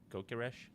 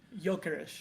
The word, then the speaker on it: Gyökeres: Kökeres? However you pronounce it. Gyökeres. Gyökeres.